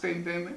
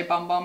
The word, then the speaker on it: Bum Bum: we use it because even though we both know it's pronounced boom boom we have to say bum bum every time it's just